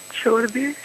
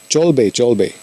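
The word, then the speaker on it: চলবে: Chorbe. Isn't that Bengali? Yeah. So it doesn't mean anything? Am I saying it wrong? I didn't get you. You said chorbe, right? Cholbe. Cholbe.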